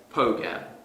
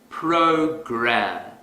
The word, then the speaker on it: program: to our previous example suppose I pronounce this word as poker that's incorrect because the R sound is missing if I want to fix this mistake quickly I will exaggerate the r sound program program program here's another